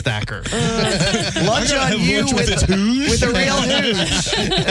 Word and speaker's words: Thakkar: It's like have lunch on you with Tom Takar. She's like, who the hell's Tom Faker anyways? She's like, I'm sorry. I think your name is spelled is is pronounced Thacker.